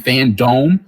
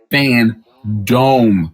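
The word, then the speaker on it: FanDome: we already know dc fandom which is i believe august 22nd coming up dc fan dome i said it wrong first time dc fan dome y'all look for the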